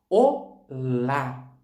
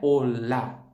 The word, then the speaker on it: hola: Em português, a gente fala olá. Em espanhol, não é olá, é olá. A sílaba mais forte está no O.